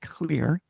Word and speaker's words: Xlear: I think it's still pronounced clear, but it's called, literally phonetically, Xlear nasal spray.